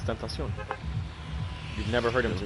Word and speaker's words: Tentacion: It's Tentacion. You've never heard him pronounce his own name?